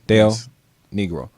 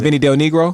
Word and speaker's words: Del Negro: Bill Vinnie Vinnie yeah Dale negro yes Vin negro that's how he pronounced it's not Vinnie negro no I just been